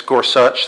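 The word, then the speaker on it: Gorsuch: such by the way that's how you actually pronounce his name it's scors such they ask at the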